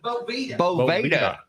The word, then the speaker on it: Boveda: That the company that everyone knows and no one pronounces correctly. Bovida. Bovida. Boveda.